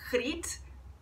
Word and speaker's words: Griet: O G em holandês é pronunciado R, então deve ser Griet, nome bem difícil de